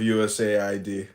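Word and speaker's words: USAID: through the federal government you got to pronounce it us Aid because it sound it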